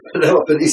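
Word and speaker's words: Peloponnese: of Benjamin pelop pis pelop pis is the correct uh pronunciation and Etc so we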